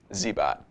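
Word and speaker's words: Cybot: or messages on instructables zbot is spelled c-y-b-o-t like z-bo but a robot zbot thank you for your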